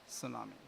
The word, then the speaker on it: tsunami: So after that, no, T is silent, it should be pronounced as tsunami.